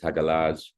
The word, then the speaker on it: hagalaz: Um, hagalaz or hagal. So, protoger Germanic is hagalaz.